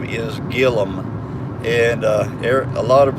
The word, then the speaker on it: Gilliam: a name like Gillum so the way you pronounce our last name is Gillum and uh a lot of people were pronouncing Gilliam but it's Gillum so I'm glad I was